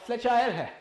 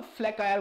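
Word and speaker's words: flacherie: जो आपकी let's say फ्लेचायर है ना, फ्लेचायर तो इसे नहीं बोला जाता, सही प्रोनाउंसिएशन की बात करूंगा तो फ्लेकायर बोला जाता है इसे, है ना।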